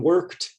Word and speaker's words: worked: past tense verbs examples in worked the ed sounds like work is one syllable worked is also one syllable because the e is silent you don't say the e in finished the e